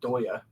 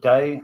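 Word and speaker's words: Deye: And so over there, they have a brand called Solarc, which is effectively a Doya, D-E-Y-E. You guys carry those as well, right? Yeah, we call it Day.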